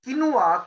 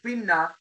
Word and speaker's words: quinoa: So although quinoa or quinna is pronounced is quinoa. So basically quinoa is a part. So now Kaju will say, no, today is the Q is the topic, no K. So but the pronunciation is the quinoa, K-W-E-N-W-A-A.